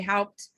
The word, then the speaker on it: Haupt: Haupt. Haupt. I know Haupt is German. You have to really like spit at the end if you want to say it right.